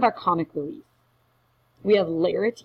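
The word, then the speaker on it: Laertes: comic relief we have lares is how you say this ponus a son he's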